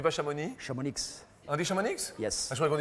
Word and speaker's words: Chamonix: Je suis de Crône, mais originaire de la Haute-Savoie, de Chamonix. De Chamonix. On dit pas Chamonix? Chamonix, On dit Chamonix? yes. Ah, je croyais qu'on disait Chamonix, moi. Chamonix, le X, il faut le dire.